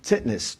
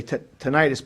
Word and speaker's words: tinnitus: It's very hard for me because I suffer from hyperreactive airway disease and sinusitis and tinnitus. They say tinnitus, but it's pronounced tinnitus.